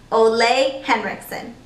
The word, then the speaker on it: Ole Henriksen: Is it Ollie Henriksen? We're gonna get to the bottom of this. It's pronounced Ole Henriksen.